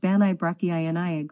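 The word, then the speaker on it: Bannau Brycheiniog: national park will adopt the Welsh name of benell burkiniak National Park pronounced banay brachiyani or excerpts edited by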